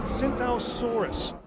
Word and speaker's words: Tsintaosaurus: It's called the Tsintaosaurus. The T is silent, like the P in swimming. Yeah, and it has a mohawk.